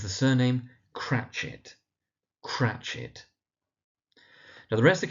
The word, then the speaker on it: Cratchit: We then got Bob Cratchit, and it's the surname Cratchit.